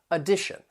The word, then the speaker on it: addition: So the words have 3 syllables, and that first and third syllable, you can hear that schwa sound, that sound. The T-I-O-N is pronounced as shun, and the syllable stress comes before it on the second syllable, addition.